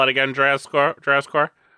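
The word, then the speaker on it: Drazcore: Dracore. Dracor. Yeah, it's like draz d r a z and then the word score.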